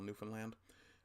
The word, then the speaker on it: Newfoundland: can kind of realize we're not the new found land, we're the newfound land. And I think that actually might help with pronunciation for a lot of people.